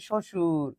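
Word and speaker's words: শ্বশুর: উচ্চারণ নেই কোন শব্দে ব ফলার উচ্চারণটা হচ্ছে না কোথায় আমরা জানি বর্ণের শুরুতে ব ফলা থাকলে উচ্চারণ হয় না এবার দেখ শুরুতে কোথায় কোথায় আছে শুরুতে এক জায়গাতেই আছে সেটা হচ্ছে শশুর এখানে কি আমরা বলতেছি সব বসুর না এই হচ্ছে বিষয় আশা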